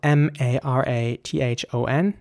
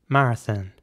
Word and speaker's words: marathon: next word is spelled m-a-r-a-t-h-o-n and again the same principle applies so in British English it would be Marathon marathon and in American English it would be more like Marathon so the same principle